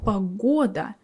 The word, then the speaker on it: погода: But then you suddenly see the word погода. G stays between two o. But we pronounce it as g.